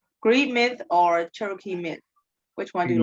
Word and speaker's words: Cherokee: It's was more interesting than the first fire, like how do I pronounce Cherokee? Yes, Cherokee.